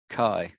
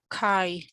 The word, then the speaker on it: cow: So I want somebody to pronounce cow for me. Cow. Kai.